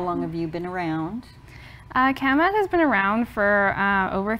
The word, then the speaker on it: CAMAT: How do you pronounce it? CAMAT.